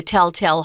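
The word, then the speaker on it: Tell-Tale: this in day one a lot of Americans will pronounce these two words exactly the same The Telltale Hearts because we're we're lazy um but if you want to be uh accurate it's tell tale more of an a sound on the next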